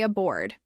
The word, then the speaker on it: aboard: Now say aboard. In a board, the stress is on the second syllable.